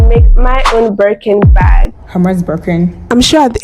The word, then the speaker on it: Hermès: Hermès Birkin. I'm sure at the end of this video, Hermès is going to hire me. Is it pronounced Hermès or Hermès or? It's Hermès.